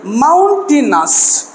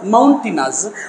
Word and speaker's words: mountainous: river there's a tribals mountainous so here and now here let me write here Mountain we pronounce this word but we should not pronounce this as a mountain mounting us mount in US mountainous mountainous District of tirak